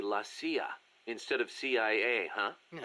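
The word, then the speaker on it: la CIA: They say Lassia instead of CIA, huh? Um, nothing strange about it. That's how it's pronounced when you read it in Spanish.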